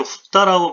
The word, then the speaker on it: 蓋: 자, 덮을 개자는 후다라고 발음을 하는데, 덮다라는 뜻이죠.